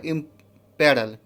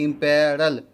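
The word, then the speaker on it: imperil: इसका next word आपको है इम्पेरल। क्या वर्ड है? इम्पेरल, ठीक है, इम्पेरल। इम्पेरिल नहीं बोल देंगे हम लोग, इसको प्रोनाउंसिएशन करेंगे इम्पेरल, ठीक है।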